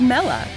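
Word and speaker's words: Mela: power it it is and atop it is Mella the boss of Team Stars fire crew oh now we know how to pronounce it it's obviously tough it's easy to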